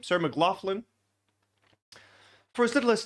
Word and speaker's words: Sarah McLachlan: Sarah McLachlan.